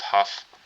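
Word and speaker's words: Hough: East Cleveland, um, I think this is pronounced Huff.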